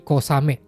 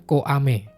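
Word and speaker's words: 小雨: Makanya jadi kosame, bukan koame.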